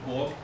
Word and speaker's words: og: Og is written the same in Danish. So the og in Norwegian, in very careful pronunciation, you can hear the G, but in normal spoken Norwegian, you wouldn't hear it.